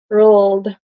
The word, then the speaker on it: world: will struggle with this so it's like word world world world it's hard world so around the world